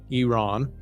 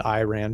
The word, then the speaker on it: Iran: comes back to to here's another pronunciation I have to say right Iran I said Iran people said it's Iran so Iran hopefully I said it right um if tensions continue